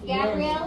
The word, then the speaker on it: Gabrielle: Is Gabrielle here? Gabriel? Is it Gabriel? Yeah. Okay, perfect. Like a long A sound.